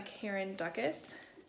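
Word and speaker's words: Karen Dukess: I did start The Last Book Party by Karen Dukas.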